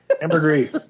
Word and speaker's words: ambergris: about ambergris again yes ambergris welfare i couldn't say the word oh the s is not pronounced oh i'm sorry it's